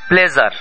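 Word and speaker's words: pleasure: ভুল করে বসে আছি আমি বলেছি প্লেজার আসলে ইংরেজি এই শব্দটি বাংলাতে নেই এখানে মূল শব্দটি হলো রা যা স ওনা জ ও না এর মাঝামাঝি যার কারণে আমরা হয় জ কে কে বেছে নেই না হয় স কে বেছে নেই আমরা হয় বলি প্লেজার না হয় বলি প্লেজার কিন্তু আসলে এর মাঝামাঝি একটি শব্দ আসবে প্লেজার দেখুন তাহলে আমি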